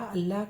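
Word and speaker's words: اللہ: अलिफ लाम अल, लाम है लह, अल्लाह, तो लाम पे तशदीद लगी है, लाम को 2 बार बोला गया है।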